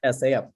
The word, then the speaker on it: SSEAYP: So that's how to pronounce it. SEAP. It was a hard time for me to pronounce a while ago. SSEAYP. So it's just SEAP, or Ship for Southeast Asian and Japanese Youth Program.